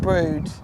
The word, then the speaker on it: Brewood: We're going to a place that's spelt Brewood, but I believe you could pronounce it Brood. It's Brood.